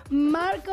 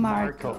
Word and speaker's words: Marco: I'm gonna try to say it like that. Hey, I'm Marco. Marco. Marco. They no, like Marco. It better with the accent. Yeah, with Marco. The Latin. Marco. Like a fire.